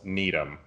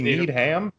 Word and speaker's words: Needham: So the first question on our list comes from the one, the only, Charles Needham, or Needham. How do you say it? Does he need ham? I think it's Needham.